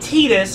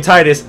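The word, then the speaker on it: Tidus: you're it's not tetus it's if you pronounce the name Titus like comment subscribe thank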